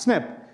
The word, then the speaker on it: SNP: that's the term that's used snp as is pronounced snip and what i'm showing you here are four